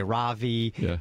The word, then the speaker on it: Ravi: Ravi some people say Ravi I said how do you pronounce your name brother he says Oh Kirk it's like this Ravi like lovey and he travels all